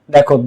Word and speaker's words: the: দি সমান সমান ভি, মানে দায়ের পরে যে শব্দটা থাকে সে যদি কনসোনেন্ট হয় তখন এর উচ্চারণ হয় দা। কি হয়? দা। যেমন টিচার এর টিটা কনসোনেন্ট, তখন দা টিচার, দি টিচার না, দা টিচার।